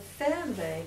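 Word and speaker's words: Fernweh: ache for distant places how do you spell that word f f r n like Fern and then V is w and zuk is senen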